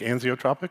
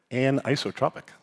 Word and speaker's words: anisotropic: I've been saying it wrong for 20 years. I used to say like anzotropic because I have dyslexia. So this weekend I learned anotropic.